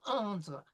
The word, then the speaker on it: entrent: Okay, so no E pronouncing, no ES pronouncing, no E pronouncing. Nous entrons, vous entrez, ils, elles entrent. No ENT, just entre.